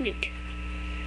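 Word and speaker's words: Knut: My name is Newt. And it's not spelled like the Newt. It is spelled like K-N-U-T.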